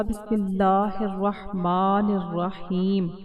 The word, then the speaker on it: بسم اللہ الرحمن الرحیم: الرحیم کا تلفظ درست رکھنا ہے۔ اس کا تلفظ یوں ہوگا، بسم اللہ الرحمن الرحیم۔ چھوٹی سی غلطی سے مطلب تبدیل ہو جاتا